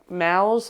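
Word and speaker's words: Maus: the complete the complete like M like mous I think it's pronounced but yeah it's a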